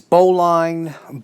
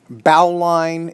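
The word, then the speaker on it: bowline: this beautiful knot here can be pronounced so many different ways boline bolin bow line it's all the same not so no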